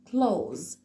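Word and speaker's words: clothes: والاتش دول مش موجودين وهننطق ساوند على طول بقول close دي كانت ايه العنوان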